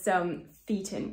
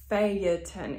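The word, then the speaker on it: Phaeton: it it is pronounced failure 10 it needs to actually be three syllables because of the rhythm so now that that's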